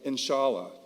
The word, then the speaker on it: inshallah: The word is spelled grammatically E-N-S-H-A-L-A, inshallah.